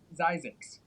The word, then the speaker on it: Zzyzx: Not only is Zzyzx a real place, it has a real pronunciation, Zzyzx.